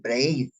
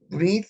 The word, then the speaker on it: brit: Qué es brit hadasha la palabra breed breed algunos braid porque así está en la en la en la fonética pero la la correcta pronunciación es br breed significa pacto y cuando